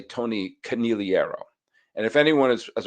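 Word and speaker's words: Conigliaro: And the Red Sox had a star outfielder by the name of Tony Caneliro. And I'm very, very careful to pronounce his name like that. U a lot of people said Tony Canigliierro.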